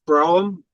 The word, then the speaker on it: Brom: Yeah, it's Brom.